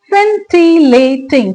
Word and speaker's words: scintillating: इसमें सी को प्रोनाउंस मत कीजिएगा, ये scintillating नहीं है, इट्स scintillating.